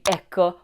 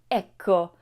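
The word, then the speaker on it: ecco: here's a quick tip make sure that you pronounce that double C clearly in Echo otherwise you might end up saying echo which means echo in Italian so how do you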